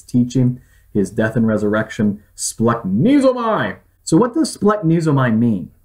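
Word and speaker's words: σπλαγχνίζομαι: Splanknesomai.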